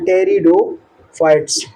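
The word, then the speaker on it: Pteridophytes: ब्रायोफाइट्स के बाद टेरिडोफाइट्स इसके अंदर पीएस साइलेंट रहता है टेरिडोफाइट्स टेरिडोफाइट और टेरिडोफाइट के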